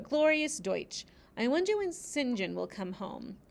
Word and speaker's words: St John: a crabbed but glorious Deutsch I wonder when singen will come home it's it's spelled St John but it's pronounced singen surely he will not be long now it